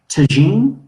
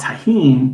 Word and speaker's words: tagine: That word in like Middle Eastern languages is tagine, right? And it's ah, spelled the same way, and it's a way of cooking. It's like a earthen pot, right? mm-hmm. In like Latin culture and Mexican culture, it's called tahine because J is always H.